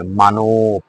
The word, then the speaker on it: মানব: মানব, মানব। বয়ের সাথে যেহেতু অ নাই, হসন্ত রয়েছে, সেখানে হসন্ত রয়েছে, এখানে শেষ শব্দটা।